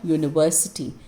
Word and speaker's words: university: juicy orange look at this e u gives us the sound of u which starts with a y okay when the sound starts with uh the sound of a consonant the sound of the consonant y is ya okay so whenever you get this year sound remember it is a eucalyptus tree your sound so a university remember this exception now let's circle the